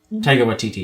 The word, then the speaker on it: Taika Waititi: Taika Waititi, yeah.